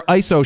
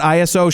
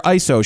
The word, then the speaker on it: ISO: baseball cards meaning baseball cards are tight they're ISO shots not ISO shots they're ISO shots that's how you pronounce ISO yeah so remember you're not shooting